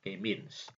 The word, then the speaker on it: K-means: Jadi K-means gitu ya, bacanya K-means.